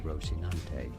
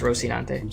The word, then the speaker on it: Rocinante: like destroy y'all's ears in Spanish you can say it as rosinante yeah it is just rosinante Spanish rosinante yes all right donante y